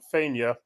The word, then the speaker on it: Vinge: Oakley Armstrong versus Nathaniel Vinge. It's pronounced Fania. Vinge. Fania. Fania. Fania. Believe it or not. Yes. Yeah, I can see why the silent V is an F. It's Fania.